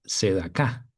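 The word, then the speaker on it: צדקה: Entonces, continuando con la frase el reino y su justicia, buscad primeramente el reino y ahora analizaremos la palabra justicia, que en hebreo se pronuncia sedacá.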